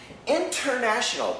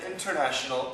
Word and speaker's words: international: International, perfect pronunciation, international. I am an international English teacher. But usually we say international, international. Internet, we say internet, internet. The N cancels the T.